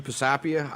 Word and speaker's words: Pisapia: pastor so um i my name's pastor pisapia um that's exactly how i wouldn't have pronounced absolutely right it's a tough one um